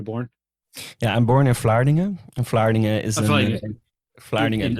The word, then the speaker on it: Vlaardingen: Vlaardingen.